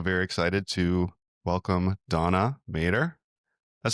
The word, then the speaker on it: MaDer: And me and Thom are also very excited to welcome Donna MaDer. That's how you pronounce the last name, right?